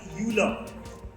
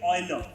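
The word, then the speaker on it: Euler: longest time we have pronounced his name as uler his actual pronunciation is Oiler right that is how his name should be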